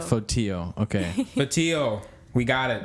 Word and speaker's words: Fotiu: Can you pronounce it? Fotiu. Fotiu.